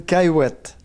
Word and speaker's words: Cayouette: Bonjour, Caillouette. Vous l'avez très bien prononcé.